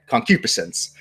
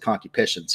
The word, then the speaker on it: concupiscence: bad cocky patients and concupiscence you know I'm sorry that's the way it's actually pronounced when I first learned